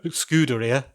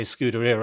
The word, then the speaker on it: Scuderia: that other pizzeria inspired, Scuderia, rather pronounced, Ferrari sign. I have to say pizzeria before I can say Scuderia, otherwise I just try and mangle it again.